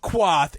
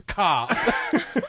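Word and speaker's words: Qarth: the king merchant comes Yeah, down and just it's like, it's not Quarth, it's Carth.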